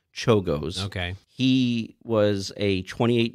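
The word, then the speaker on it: Czolgosz: no worries it's uh it's spelled c-z-o-l-g-o-s-z but it's pronounced chogos okay he was a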